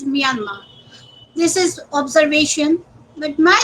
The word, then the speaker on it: Myanmar: also work on Myanmar, it is always good to pronounce the country actually as it is pronounced. It is not Myanmar, but it is Myanmar.